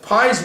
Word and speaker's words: Pye: a gentleman named Jason Pi Pye is how you spell that last name Jason Pi entitled why